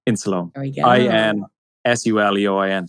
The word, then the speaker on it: Insuleoin: Insuleoin? Insuleoin. There we go. INSULEOIN. So it's supposed to be insulin and my name.